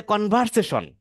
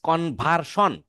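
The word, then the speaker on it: conversion: তো যাই হোক, এটাকে অনেকে বলে কনভারসেশন। No, this is নট এ কনভারসেশন, this is কনভার্সন।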